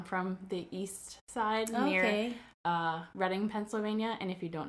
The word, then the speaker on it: Reading: It's Reading, not reading. So many people say reading, and I'm like, oh. You say Reading, and I think Reading, California. Well, there is a Reading, California, but they spell it differently. Oh. So it's spelled... So it's spelled like reading, R-E-A-D?